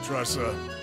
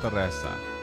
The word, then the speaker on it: Tressa: You're too clever for me, Tressa. Now off you go. He's saying it wrong. It's Tressa.